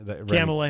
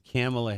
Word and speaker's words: Kamala: what is our name camilla harris pamela i said camilla so it's kamala harris camelia you know what